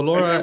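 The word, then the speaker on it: LoRA: in very specific task is it pronounced Laura is that a yes so Laura what are the four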